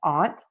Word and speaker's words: aunt: And an ant, you have a choice. Pronounce them the same? Ant and aunt, or pronounce them differently, ant and aunt, whichever you prefer.